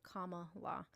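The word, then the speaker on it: Kamala: paying attention to Jazzy her name is pronounced comma law but then we also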